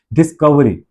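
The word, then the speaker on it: discovery: लेकिन ये क्या है, डिस, कव, कव में अ, क और व के बीच में अ की साउंड है। डिस्कवरी, इट्स नॉट क्व, इट्स नॉट डिस्कवरी, इट्स नॉट डिस्कवरी। अगर ये डिस्कवरी होता तो ये 3 सिलेबल में हो जाता, लेकिन ये क्या है,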